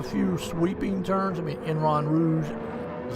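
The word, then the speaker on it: Eau Rouge: I mean, Enron Rouge is how you say it.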